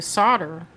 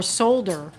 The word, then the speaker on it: solder: not the way that the L is silent please oh Vicky says